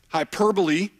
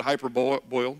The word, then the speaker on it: hyperbole: now here comes satire hyperbole my former basketball players pronounced that hyperb boil just so you know